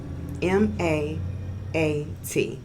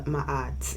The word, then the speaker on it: Ma'at: M-A-A-T, okay? So, check that out. Yes, and sometimes it's spelled with an apostrophe, which I like it spelled like that because it helps you to Ma'at, you know.